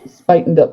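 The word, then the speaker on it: Spuyten Duyvil: told that there's an area in the Bronx it's spelled Spuyten Duval. Is it Spuyten Duval? Spuyten Devil? Spuyten Devil.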